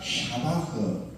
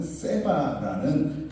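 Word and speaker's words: שבח: 그 의미가 샤바흐. 여러분들이 사용하고 있는 세바라는 그런 의미로 사용을 하고 있어요. 더 정확한 의미는 정확한 발음은 샤바흐입니다.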